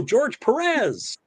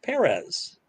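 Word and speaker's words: Pérez: the beginning were oh george perez yeah um and there's still people doing it that's like nope it's perez emphasis on the first syllable that's why there's a little tilde on it yeah it's still it's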